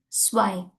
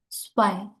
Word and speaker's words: zwei: That is zwei. Zwei. The z will pronounce like a s.